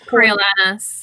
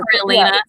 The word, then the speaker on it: Coriolanus: Coriolanus or Coriolanus, whatever. Coriolanus? See, you could pronounce it either way.